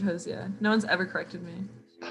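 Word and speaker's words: Hozier: it's definitely jose um that's how you say his name josie i think so i thought it was hosier i'm like i might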